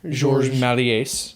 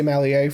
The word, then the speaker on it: Méliès: George Méliès. Yeah, George Méliès. And they seem to pronounce the S. Because I think I thought about that because I would say Méliès for a long time, but it's not.